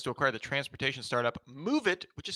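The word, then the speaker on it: Moovit: News or not, Intel confirmed it plans to acquire the transportation startup MoveIt, which is spelled M-O-O-V-I-T, don't approve, which analyzes urban traffic patterns and provides transportation recommendations focused on public transit.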